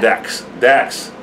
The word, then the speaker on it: Dax: Anyway, I want to listen to more Dak, though. Yeah. Dax.